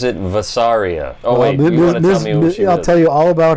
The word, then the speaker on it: Vasaria: in this episode of this episode um she pronounces it vasaria I'll tell you all about her yeah okay